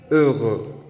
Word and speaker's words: heureux: Feliz de estado de ánimo, que se dice heureux. Esta es la pronunciación de la E marcada con labios redondeados. Heureux.